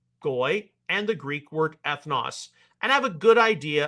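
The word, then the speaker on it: ἔθνος: Some of you may be akin to hearing the pronunciation ethnos. No, it's ethnos, as I was taught how to pronounce it, because it's an omicron, not an omega.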